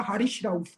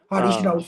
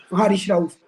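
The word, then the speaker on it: حارث رؤف: भी नहीं बोलना था हारिश रऊफ तू पहले जाके अपनी जुबान से सही कर हारिश रफ पहले प्रोनाउंसिएशन तो हारिश हारिश रऊफ और दूसरा ये है के गंदे मैं उसको अच्छा लड़का समझता था।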